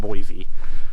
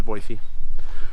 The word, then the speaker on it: Boise: And yes, it's pronounced Boise, not Boise. I was wrong at first. I found out it was Boise.